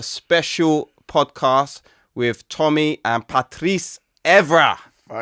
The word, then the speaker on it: Patrice: And today we got a special podcast with Tommy and Patrice. Evra. Finally, someone said it right. because they always say Patrick and you say Patrice, man.